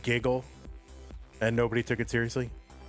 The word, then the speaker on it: GGL: Gaming. Giggle. Pronounced Giggle.